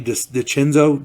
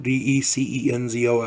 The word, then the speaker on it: DeCenzo: Rob Garrison, Brett Ernst, Aiden Minnick, Gianni DiCenzo, Decenzo, I believe it's pronounced DiCenzo.